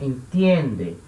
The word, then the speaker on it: entiende: No tu, tem a mudança na raiz e a sílaba tônica não é a última, né? É a penúltima. Então, entiende, entiende, entender.